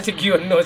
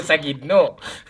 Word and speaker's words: Sagino: Enggak Sugiono, Sagino.